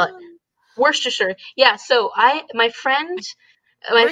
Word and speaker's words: Worcestershire: And everybody's so used to saying like Worcestershire, no, not, but it's Worcestershire, Worcestershire. Worcestershire sauce.